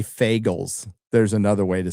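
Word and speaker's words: Fagles: And it's by It's translated by Robert I'll say Fagels. There's another way to say his name, but I'll say Fagels.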